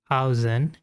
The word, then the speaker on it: Aozen: So coming to the pronunciation of Azen Studios. Well, it's Azen.